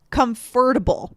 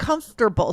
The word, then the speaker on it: comfortable: Because if I know the word comfort, but then I see that same word and I see able after, I would think it should be comfortable, right? But it's not. It's comfortable.